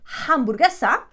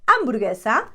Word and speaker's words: hamburguesa: The H is always silent. We don't say hamburguesa, we say hamburguesa.